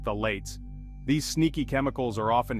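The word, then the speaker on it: phthalates: we've got the notorious phalates pronounced the lates these sneaky chemicals are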